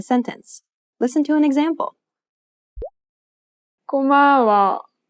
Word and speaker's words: 고마워: 고마워. She kept the same pitch for the first and second syllable, but lowered the tone for the last syllable.